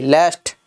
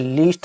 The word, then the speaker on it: lest: ये लीस्ट नहीं है, लेस्ट होती है। क्या होती है, लेस्ट। स्पेलिंग होती है LEST।